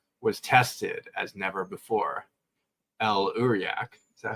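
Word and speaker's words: El'Uriaq: El Uriak, is that how you say it?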